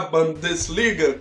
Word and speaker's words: Bundesliga: O Atlético é um clube que poderia ali estar jogando a Bundesliga, como me ensinaram a falar a pronúncia correta.